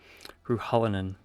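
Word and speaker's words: Ruhallin: Then there's uh a human a woman named uh Ruhalinan at How do you say that name? Ruhalinan. It's spelled R U H A L L I N.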